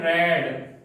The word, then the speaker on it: read: Form क्या होती है, रेड। समझ गए होंगे, केवल प्रोनाउंसिएशन अंतर होता है, स्पेलिंग में कोई चेंज नहीं होता है, स्पेलिंग वही रहती है, READ बोलते हैं, रेड।